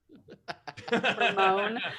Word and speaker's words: Hermione: How do you pronounce the name that starts with H-E-R? Her. Hermione.